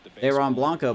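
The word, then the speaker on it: Dairon Blanco: Dar uh Dron Blanco I've been saying his name wrong the whole time drron Blanco behind my face in left field Drew Waters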